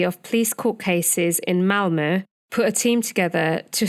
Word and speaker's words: Malmö: So, the National Authority of Police Court Cases in Malmö put a team together to scrutinise the entire Quick investigation and set up an inquiry.